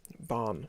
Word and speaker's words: Bahn: bruder run your course barn like autobahn in german which word you may